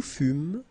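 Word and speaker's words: fûmes: Nous fumes. Vous fûes, il furent, elle furent. OK, encore une fois je fus. OK. final pronounced ok fu ok nous fum final s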